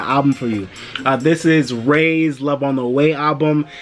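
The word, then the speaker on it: Rai: I don't really know much about this artist called Ray. It's spelled with the I, R-A-I.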